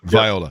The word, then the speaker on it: Viola: And then lastly, and I hope I get the name right on this, Al, is it Viola or Viola in terms of the pronunciation? Viola. It's Viola.